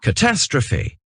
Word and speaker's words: catastrophe: Donc là, si vous voyez, le mot s'écrit peut-être comme en français, mais il se prononce pas du tout comme le français. C'est bien catastrophe. En fait, le E final se prononce I.